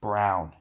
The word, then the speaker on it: Braun: he loves maps and his last name is pronounced brown our next seniors number